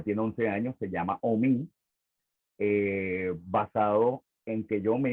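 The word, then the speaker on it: Hommy: Entonces, Omi, que se escribe H-O-M-M-Y, era sordo, ciego y mudo, pero tocaba el bongo. Entonces, mi papá por esa obra musical me iba a poner Víctor Omi, pero por temor a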